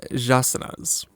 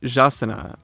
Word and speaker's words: jaçanã: The name should be pronounced something like jaçanã or jaçanã, though I don't know the language, so I'm probably getting something wrong here.